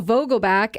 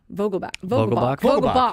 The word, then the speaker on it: Vogelbach: I feel like I'm saying it wrong. Vogelbach. Yeah. It's not back. Danny Vogelbach.